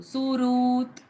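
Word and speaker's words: सुहृत्: ma'am एक बारी फिर से प्रोनाउंस करोगे ये वर्ड कैसे देखो सुरत सुरत यस एस यू एच आर यू टी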